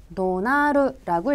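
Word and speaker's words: 怒鳴る: 자, 이어지는 복합동사 성낼 노자에다가 그 다음 울명자라는 한자를 써서 도나르라고 읽히는 동사예요.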